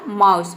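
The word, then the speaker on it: mouse: एम का हो गया म ओ यू का हो जाएगा आउ ठीक है एस का हो जाएगा स और ई वर्ड के अंत में आया है इसलिए यहां पे ई क्या है साइलेंट है ठीक है ये हो गया आपका माउस माउस का मतलब होता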